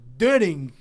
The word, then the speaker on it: Döring: Tô falando do grande goleiro Doreng, que tava aqui me dizendo que é Dering.